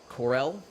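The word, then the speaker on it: Corelle: Corey, how do you say this? Corelli or Corel? Crazy Daisy plates. There's no N in there? Corel. Corel.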